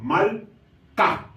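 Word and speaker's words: מַלְכָּה: Entonces esta palabra sería malca, malca, que es la palabra reina.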